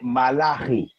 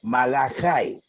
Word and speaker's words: Malachi: So in in Jewish they would say malahi. Okay. In English they would say malai.